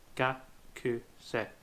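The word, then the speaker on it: がくせい: In this word, the k sounds more like a K because the U is left out and it ends up sounding more like kakse.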